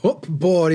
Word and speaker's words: cupboard: If you were to like spell it out, it'd be C-U-B-B. Cub. But it's actually spelled C-U-P-B. Cupboard. And we don't say board, not cupboard. Cupboard. Cupboard. It's not even close, is it?